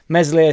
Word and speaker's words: Meslier: reacted in that way mesli silent s smiled at the end